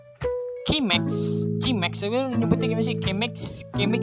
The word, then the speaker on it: Chemex: Chemex ya nyebutnya. Kalau bahasa Inggris kan C dibacanya K ya.